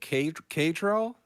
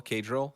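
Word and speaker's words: Caedrel: Uh we got Ka Ka Kadril. C Ae D R E L. Krill I believe is probably how it's pronounced.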